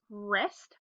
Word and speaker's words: wrist: Here we have our silent letter WR, which says wrist.